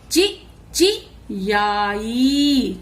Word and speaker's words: चिचियाई: च को छोटी ई ची, फिर च को छोटी ई ची, ची, ची याई, चिचियाई।